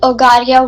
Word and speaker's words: Ogaria: Book the Ogaria world, if I'm pronouncing it right. Yes. Is that right? Yes. Yeah, Ogaria.